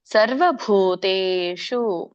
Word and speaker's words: ಸರ್ವಭೂತೇಷು: ವಿದ್ಧಿ ಸಾತ್ವಿಕಂ ಇದರ ಉಚ್ಚಾರಣೆ ಸರ್ವಭೂತೇಶು ಎಲ್ಲಿ ಮಹಾಪ್ರಾಣಗಳಿದೆ ಭ ಮಹಾಪ್ರಾಣ ಇದೆ ಇಲ್ಲಿ ತ ಕೆ ದೀರ್ಘ ಇದೆ ಎಳಿರಿ ಮತ್ತೆ ಶ ನೋಡಿ ನೋಡಿ ಮೂರ್ಧನೇಷ ಹೇಳಬೇಕು ನಮ್ಮ ಒಂದು ನಾಲಿಗೆ ರೋಲ್ ಮಾಡಿ ಸ ಶ ವ್ಯತ್ಯಾಸ ತಿಳ್ಕೊಳ್ಳಿ ಶು ಸರ್ವಭೂತೇಶು ಏನೈಕಂ ಏ ದೀರ್ಘ ಇದೆ